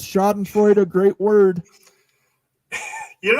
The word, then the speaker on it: Schadenfreude: Devil Frog again says, Schadenfreude, a great word.